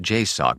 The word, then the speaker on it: JSOC: joined Special Operations Command and pronounced jck by those aware of the organization was the department of